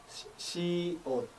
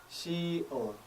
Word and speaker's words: 시옷: Symbol 시옷 would make the sh sound as you would hear from the word shit, shit, shit, followed by the sound. 시옷, 시옷, 시옷.